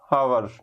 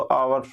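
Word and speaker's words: hours: Next question, इन ए हावर्स time, ये बताओ हावर्स पढ़ते हैं या फिर आवर्स पढ़ते हैं? तो आवर्स होता है, ना कि हावर्स होता है। ये आपका साइलेंट रहता है, आपका यहाँ पे एन हो जाएगा।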